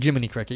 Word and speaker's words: Jiminy Cricket: their streams and they were saying it wrong on purpose I think or because Li of P said it wrong so it's Jiminy Cricket yeah jet on your